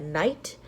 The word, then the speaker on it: knight: When a K and an N come together, the K is silent.